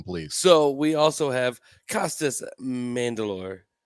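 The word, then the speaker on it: Costas Mandylor: so we also have costas mandalore that's how you say his name as dan king in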